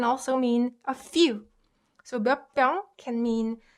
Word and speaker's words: 몇 병: too hard to guess because this is ut combined with p. So you can hear that there's more emphasis on p. So it becomes b sound. So 몇 병 is pronounced 몇 병.